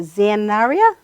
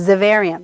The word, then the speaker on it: Xaverian: So I'm going to ask you, Xanaria? How do you say Xaverian? that? Xaverian. Yes. Sorry, Xaverian.